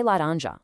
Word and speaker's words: laranja: Try laranja, the word for orange. The nasal ã right in the middle perfectly maps to the ang sound in the English word sang.